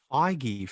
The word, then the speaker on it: Feige: Feige, for God's sake. Yeah, I was gonna say, have I been pronouncing it wrong?